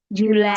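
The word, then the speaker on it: July: Jun aja bacanya June. Kalau Juli Julai Julai.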